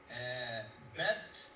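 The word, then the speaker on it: ב: Bet. A bet is just a regular B.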